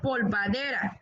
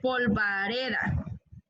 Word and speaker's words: polvareda: bertiz se dice diabetes no se dice polvadera se dice polvareda o población hay unos